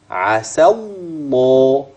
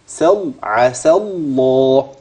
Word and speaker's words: عسى الله: بعديها اسمع كويس كده هتسمع مني العين هتسمع مني السين هتسمع بعد السين مباشره لام مشدده يعني الالف الماديه اللي في اخر عسى لن تسمعها ولن تلفظ بها والالف اللي سيادتك شايفها قبل لام لفظ الجلاله لن تراها في اللفظ ازاي بقى هكذا ركز معايا كده عسى الله س عسى الله خلاص كده امشي معايا